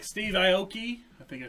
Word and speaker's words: Steve Aoki: So like the celebrity owners in this consist of like Steve Aoki. I think I said that right. Steve Yeah. Aoki. Aoki.